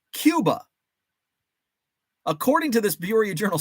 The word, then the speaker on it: Cuba: was a town spelled c-u-b-a Cuba according to this Bureau Journal Star article it's pronounced Cuba The Fulton County City mirrors the Spanish not English pronunciation of the island nation this is the first